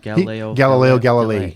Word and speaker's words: Galileo Galilei: Yeah, Is it pronounced Galileo Galilei?